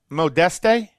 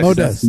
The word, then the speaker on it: Modeste: Modeste? Modeste. The E is silent. Modeste.